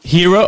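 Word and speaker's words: Hiro: before you start is it pronounced hero or hyro and I'm going to spell it hero okay I it's spell h i r o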